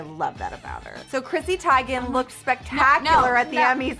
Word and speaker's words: Chrissy Teigen: have you heard her name is not Christy Teegan her name is Chrissy Tigan she revealed it last